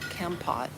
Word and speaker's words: Kampot: It's called Kempot. I'll spell it Kampot.